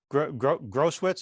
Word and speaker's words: Grosskreutz: Grosskreutz, is that how it's pronounced?